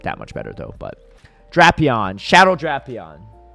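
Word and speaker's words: Drapion: But Draon, Shadow Draion. Unfortunately, the pronouncing is pronunciation is Draon, not Drapeon.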